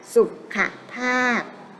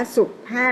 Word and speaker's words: สุขภาพ: แล้ว เป็น ทำ ใหม่ อ่าน ว่า ว่า สุขภาพ นะ คะ ไม่ อ่าน ว่า ศุกร์ 5 รอบ นะ ก็ จะ